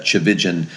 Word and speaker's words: Tchividjian: my growing up years that chigan rhymes with religion sometimes that helps people